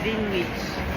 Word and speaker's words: Greenwich: Greenwich ano ko ah sige Greenwich yan yan Okay yan ang tamang pronunciation yan Ang hirap SAO eh